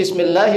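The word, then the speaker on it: بسم الله: Yang pertama kita membaca bismillahi, hi-nya dibaca. Ya jangan bismillah begitu, jangan.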